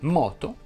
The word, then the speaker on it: moto: Ebbene, si dice moto, foto e topo, tutte con la O aperta.